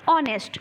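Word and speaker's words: honest: लिखने हो ऑनेस्ट बोलते हो क्या बोलते हो ऑनेस्ट इसका सही उच्चारण है ऑनेस्ट लेकिन लिखा इसको क्या जाता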